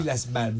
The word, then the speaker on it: Islas Malvinas: The Argentinian That's a good pronunciation, that. Islas Malvinas.